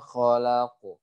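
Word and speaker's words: خلق: yang harus diperhatikan adalah huruf qaf yang sukun karena waqaf dia dipantulkan. Jadi bacanya min syarri ma khalaq. Seperti itu ya. Min syarri ma khalaq. Pantulannya ke huruf O.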